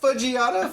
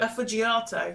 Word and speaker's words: affogato: Fudgiato? Fudgiato. That's the name of the episode. Fudgiato. I'm going to have to figure out how to spell that. Affogato.